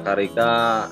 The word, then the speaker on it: carica: pepaya carica atau carica tulisannya carica Tapi bacanya carica kita akan melihat profil singkat dari topik ini Halo selamat malam assalamualaikum warahmatullahi wabarakatuh perkenalkan nama saya haryoso membudidaya Karika sudah 5 tahun yang